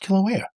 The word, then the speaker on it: Kilauea: How do I pronounce this? Kilauea.